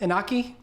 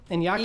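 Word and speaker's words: Iñaki: Inoy, uh, or Inaki? Inyaki? Inyaki Godoy.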